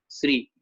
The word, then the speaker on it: श्री: से उच्चारण करते हैं, पहले स का साउंड प्रकट करते हैं, फिर र का साउंड प्रकट करते हैं और फिर हम ब्यारी का साउंड प्रकट करते हैं, ई का, श्री, ठीक है।